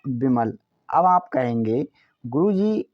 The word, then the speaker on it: विमल: हैं यहां पर है बी आई एम ए एल इसे हम पढ़ते हैं विमल वी से बनता है वा क्या वा आई से छोटी की मात्रा लगाई जाती है एम से म अब ए साइलेंट रहेगा एल का मतलब लॉ हुआ विमल अब आप कहेंगे गुरुजी